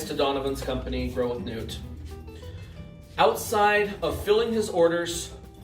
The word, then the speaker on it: Noot: liquidate under the name which was nudes and it's spelled n-o-o-t i want to be clear here we are completely separate companies newt grow with newt incorporated and liquidate llc two